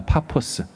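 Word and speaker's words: Paphos: 어떻게 이름을 바보라고 졌을까요 사실은 원래 발음은 파스입니다 파포스 뜻은 보일링 있니다 끌고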